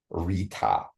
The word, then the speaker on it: Rta: up it's Capital RTA when I look this up for pronunciation is Rita okay and SAA uh veruna